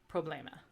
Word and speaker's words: problema: so like Teatro or you have the open E which is like the E and met so it's like e so you have problema and then you have